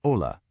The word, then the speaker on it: hola: So, the H is silent, and the J sounds like an H.